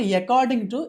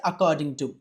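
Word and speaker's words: according to: అకార్డింగ్ టు అకార్డింగ్ టు ఇట్స్ నాట్ ఎకార్డింగ్ టు ఇట్స్ అకార్డింగ్ టు ఎప్పుడైనా సాధారణంగా vowel తో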